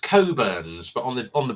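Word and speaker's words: Cockburn's: quite a nice Port as well um it's pronounced coburns but on the on the bottle it says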